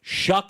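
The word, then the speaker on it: Shough: Shuck is how you pronounce Shuck. that name? S-H-U-C-K. Shuck. Yes. It looks like slow or something like that. S-H-L-O-U. It's spelled S-H-O-U-G-H. Show. Yeah, it's not spelled the way it sounds.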